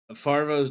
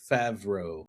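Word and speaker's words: Favreau: Farvo's directing it. I I can never say his name right. If you haven't learned anything today is that I shouldn't say people's names. I suck at it. John Favro.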